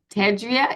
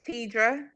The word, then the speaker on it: Tedra: I'm sorry I'm sorry it's tedra tedra thank you I don't